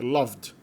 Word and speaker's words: loved: Não tem duas sílabas não é loved. Não tem nada de loved, loved, loved. É loved. O V é seguido diretamente pelo D.